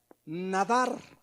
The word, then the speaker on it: nadar: A ver, la palabra prometer viene de una palabra hebrea, nadar, así como nadar, exactamente, nada más que acento en la nadar.